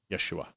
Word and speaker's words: Yeshua: Yeshua. Okay, Yeshua.